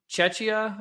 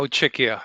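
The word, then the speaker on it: Czechia: So, Ludic, you're you're from Chetchia, I believe. Is that how you pronounce it? No. Czecha Czecha Czecha because your your pronunciation is similar to Cheschna which is much more uh to the east actually.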